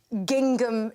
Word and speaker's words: gingham: I'm wearing a fulllength gingham dress. Okay. I like the way you sounded the second G. Gingham. Are you not supposed to pronounce the second?